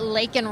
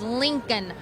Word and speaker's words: Laken: And so he was forced to do so, and he still couldn't say her name correctly. He said Lincoln Riley.